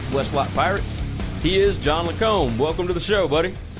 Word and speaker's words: Lacombe: get it I I've gotten all different kinds lome is the way that it's pronounced but uh if you've if you've been around uh particularly woman you get Lancome more times than you'd care to admit but